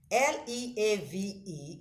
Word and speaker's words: leave: Leave is pronounced with a long vowel E.